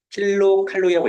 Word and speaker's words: 킬로칼로리: 이 어른들이 읽을 때 이거를 그냥 칼로리 칼로리 칼로리 이렇게 읽어버려 일단 그거는 잘못 읽은 거지 킬로 칼로리라고 읽어야 돼 그런데 틸로 킬로 칼로리가